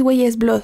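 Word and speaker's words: Weyes Blood: Ella es Güeyes Blood.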